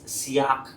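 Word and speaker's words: siyach: वो लिख लीजिए मेडिटेटर मींस सियाक कहा जाता है उसको सिया क है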